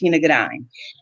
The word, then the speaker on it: Shana Gourdine: business partnership yes and my name is actually pronounced shinagadine and i am an